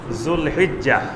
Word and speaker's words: জুলহিজ্জাহ: আমাদের দেশে বাংলায় লেখা হয় জিলকদ, জিলহজ, এইভাবে লেখা হয়, কিন্তু এটার সঠিক উচ্চারণ হবে জুলকাদা, জুলহিজ্জাহ।